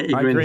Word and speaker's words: Ygritte: Yeah, Ygritte is fine. Ygritte? Yeah, Ygritte is fine. You can do both, honestly.